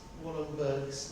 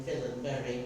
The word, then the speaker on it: Wallenberg: Swedish and he says that I have to pronounce wallenberg's name in villain Berry which is something much about you pronounced it